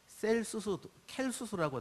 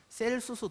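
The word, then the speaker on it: Celsus: 로마에 가면은 하여간 에베소 가면 거기 이제 켈수스라고 하고 C자 발음이라 셀수스 도서관이라는 건물이 아주 멋있는 건물이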